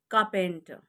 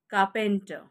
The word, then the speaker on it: carpenter: carpenter it's carpenter carpenter here the letter r is silent carpenter carpenter now who's a carpenter a person who makes or repairs wooden objects okay who makes up wooden furniture etcetera cup enter so plummer cup enter